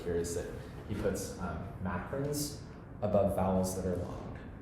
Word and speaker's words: macron: It's a macron. It's spelled M-A-C-R-O-N, like that.